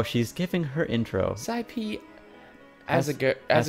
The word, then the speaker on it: Asagiri: Sci-P Asagiri. Asagiri. That's how you pronounce it.